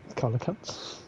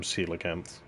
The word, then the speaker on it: coelacanth: Colocans. I'm almost certain that's how I'm correctly pronouncing that, but I'm pretty sure everyone else calls them coelacanths.